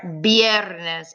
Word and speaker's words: viernes: All right, viernes. And remember, the V sounds like the letter B.